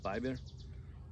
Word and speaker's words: Biber: Biber.